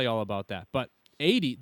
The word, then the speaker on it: Aoede: all about that but 80 that is how you pronounce it right am I right with this yeah oh okay you did good most people say a OD oh yeah because the